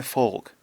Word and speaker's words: folk: and um it's like it bothers me when people claim that the L in folk or yoke is silent. It's not. I pronounce it. These are my folk folk music. You can hear the L.